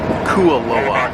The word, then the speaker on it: Kualoa: This is pronounced Kualoa.